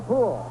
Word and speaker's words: Puhl: skipped by Gary and it's a triple for pool one of the Phillies play Terry pool way